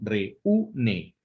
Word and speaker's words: reúne: Bueno, pues ese acento escrito rompe la estructura del diptongo. ¿Me explico? Y entonces se tiene que dividir esa sílaba. Entonces sería reúne.